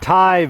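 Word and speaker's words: Tygh: a long Ascent out of the what's called Thai Valley it's spelled t y g named after the Native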